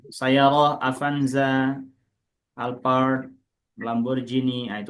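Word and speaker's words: سيارة: Ahsan Pak Eka ini Sayarah Pak bacanya sayarah Avanza, Alpard Lamborghini.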